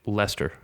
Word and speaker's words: Leicester: Or isn't Sorry, near Leicesters Leicester. Okay. It's pronounced Leicester, if I remember my football correctly.